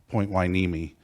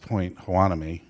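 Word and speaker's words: Point Hueneme: and he talks about I always remember Daniel says point wiimi which I grew up hearing it pronounced Point Hanami but he says point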